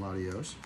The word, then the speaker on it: Latios: The two are spelled the same, but I know you pronounce one differently. One's got an I-A-S, isn't it? No. Latias and Latios.